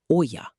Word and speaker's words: olla: In Spanish, the term translates directly to clay pot, and it is typically pronounced olla or olla.